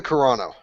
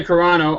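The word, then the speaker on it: Carano: name uh Gina Caro how how's that pronounced Gina G uh Gina corano Gina corano I was impressed with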